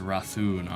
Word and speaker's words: Rathun: Oh, it's pronounced Rathun.